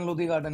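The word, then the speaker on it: Lodhi Garden: ही Buddha गार्डन, लोधी गार्डन या लोधी गार्डन है. Oh, that's how it's pronounced.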